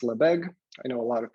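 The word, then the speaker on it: Lebesgue: me pronounce the name of the company it's pronounced la beg i know a lot of people have trouble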